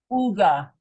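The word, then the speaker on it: עוגה: buy is Ina y UGA I eat UGA UGA because the Y has no sound but takes the U it's I write it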